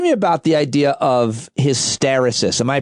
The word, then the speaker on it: hysteresis: Talk to me about the idea of hysteresis. Am I pronouncing that right?